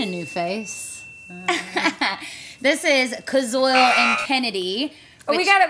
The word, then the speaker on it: Koziol: KOZIOL. So, phonetically? KOZIOL. I'm going to say KOZIOL.